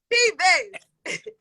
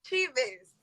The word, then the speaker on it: Cheaves: Cheaves. Oh, how you say it? Cheaves. Cheaves. Girl, that's not how it looks.